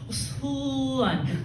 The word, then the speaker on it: Suwon: You would say it like the way my mother says it, all right? Like a 90-year-old little Korean lady, right? Like it's Suwon.